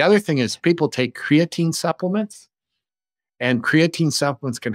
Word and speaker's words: creatine: taking a lot of creatinine supplements or it's creatine actually not creatinine I said it wrong you take creatine supplements